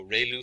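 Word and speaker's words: ReLU: um Ru is pronounced like Ray the ray from the Sun and L like a name so rayl function and we have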